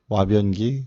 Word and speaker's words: 화변기: 근데 요거의 발음이 와예요. 와. 일본어의 발음은 우리말 한국식 발음은 화지만 여기 보면은 와변기, 화변기란 말을 쓰잖아요.